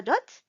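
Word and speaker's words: ضاد: And the way to pronounce the letter dot is the side of your tongue, the left side, should be touching the left side of the teeth or the gums.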